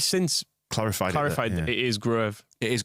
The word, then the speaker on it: Gruev: But I'm pretty sure he has since clarified now it is Gruev.